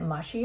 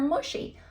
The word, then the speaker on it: mushy: simple multiple choice question does mushy rhyme with pushy or slushy well that was confusing